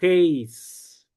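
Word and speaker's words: εἷς: El número 1 en griego masculino es heis. ¿Por qué esto es importante? Porque hay una preposición que se pronuncia eis.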